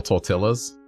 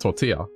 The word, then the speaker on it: tortilla: Oh, by the way, like, it's pronounced tortilla. And she's like, what? I'm like, it's pronounced tortilla. That's how you say it in Spanish.